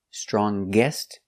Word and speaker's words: strongest: And with est, strongest, again we pronounce the g sound.